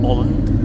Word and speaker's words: Åland: Well, we are arriving in Holland, as I've been told it's pronounced.